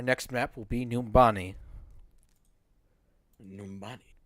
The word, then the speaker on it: Numbani: Numbani. Or as I like to mispronounce it, Numbanai.